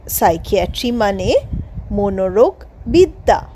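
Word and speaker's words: psychiatry: মিথ্যা হি গেউ নেম সে ভু নাম দিল সাইকিয়াট্রিস্ট পি এস ওয়াই সি এইচ আই এ টি আর আই এসটি সাইকিয়াট্রিস্ট এখানেও পি সাইলেন্ট সাইকিয়াট্রিস্ট মানে মনোরোগ বিশেষজ্ঞ পেশেন্ট ভিজিটেড সাইকিয়াট্রিস্ট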